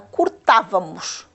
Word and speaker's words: cortávamos: Na primeira palavra, cortávamos. Como é que nós classificamos esta palavra? Então, ela está, vamos contar, o acento está ali. Vamos contar última, penúltima, antepenúltima. É aqui que se situa. Então, trata-se de uma palavra esdrúxula.